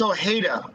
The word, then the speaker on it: Ojeda: Oh, by the way, it's Ojeda. Ojeda. It's a Hispanic name.